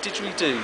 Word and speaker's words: didgeridoo: It's a slide didgeridoo, this one. Didgeridoo. Spell it.